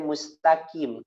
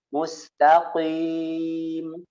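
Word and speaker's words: مستقيم: Ihdinas siratal mustaqim, bacanya mustaqim, ka, kim. Padahal di situ ko, tebel. Mustaqim, qi, mustaqim ya, qi, bukan ki, langsung ki, bukan. Qim.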